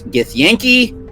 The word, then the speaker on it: Githyanki: The proper pronunciation with the Gith races is Githyanki and Githzerai.